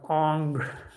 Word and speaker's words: Ingres: So we were in history of art, we were learning about people like Ingres, I think is how the French pronounce him, and we were told